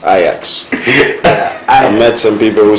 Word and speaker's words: Ajax: Barcelona and not Barcelona because I've met a lot of people who say Ajax it's IX I met some people